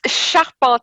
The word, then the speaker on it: Charpentier: episode is sharpener I've probably pronounced that badly I'll get to explain it exactly in a moment um help me out here tell tell me how to pronounce your name properly it's sharpan it means Carpenter in